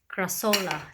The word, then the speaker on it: Crassula: show you my another crassula. The crassola, some of them pronounce it that way, but I don't think